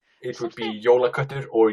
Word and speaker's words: jólaköttur: correct pronunciation. It would be jólaköttur or julekat.